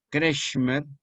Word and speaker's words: Kretschmer: Y un gran psiquiatra alemán al que se le debe la clasificación más célebre de los biotipos constitucionales, Kretschmer, que se escribe con K, S-H, Kretschmer, K con K,